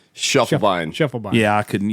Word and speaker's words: Schiefelbein: not cool how do you how do you pronounce your last name Shuffle Bine Shuffle Bine yeah I couldn't you give me